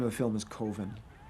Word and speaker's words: Coven: The name of the film is Coven. It's pronounced Coven, man. What else could it be pronounced? Coven. That's the proper Oh, pronunciation. damn, dude, it's 4th and 1. No. Coven Shit. sounds like oven, man, and that's just, it doesn't work.